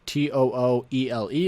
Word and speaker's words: Tooele: here in grantsville this is actually part of tooele county yes that's t-o-o-e-l-e is pronounced tooele i know that's a little bit